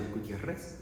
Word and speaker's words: Gutierrez: My name is um Gutierrez or and I come from the uh my father is from Mexico so the Spanish pronunciation Guutieres but you could call me.